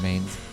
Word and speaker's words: Mains: I think it's more likely to have an inn called Ash Tree in Armorica than in Mains. Or Mines. I refuse to call it Mines. It's spelled Mains.